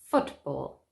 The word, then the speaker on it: football: word stress compound nouns compound nouns just like the nouns in rule number one are usually stressed on the first syllable remember compound nouns are